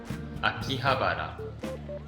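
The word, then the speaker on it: 秋葉原: Akihabara. Oh. The R is rolled. Akihabara.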